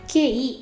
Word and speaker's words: qi: que energia só que a pronúncia correta não é que não é k e QI em chinês é como se fosse um tx então o som que